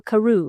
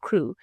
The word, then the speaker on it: Crewe: "Madame Pascal pronounced it as if it were Carew instead of Crewe but that might be merely a matter of pronunciation.